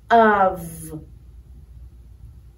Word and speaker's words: of: The F is pronounced like a V, of.